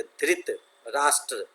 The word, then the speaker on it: धृतराष्ट्र: वहाँ महाराज धृतराष्ट्र, अब देखिए इसी शब्द का उच्चारण है, धृत राष्ट्र राज करते थे। तो ये धृत बहुत लोग धृत पढ़ देते हैं, लेकिन तो है तो वहाँ पढ़ना है धृतराष्ट्र।